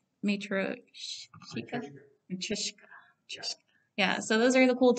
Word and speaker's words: Matryoshka: So I believe it's pronounced Matryoshka.